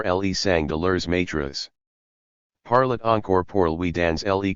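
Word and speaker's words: parlât: I was struck with the word parlet, and found a t was necessary to form the third person of the subjunctive, whereas I had always written and pronounced it parla, as in the present of the indicative.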